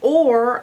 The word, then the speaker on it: or: Now, if I was saying this phonetically, it would be R, because the R is closing in the O. But it's not. It's or, actually, because this R is bossing this O around to say or, O-R.